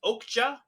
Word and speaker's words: Okja: First of all, isn't it pronounced Okja? Okay, Yeah, Jay. it's Okja.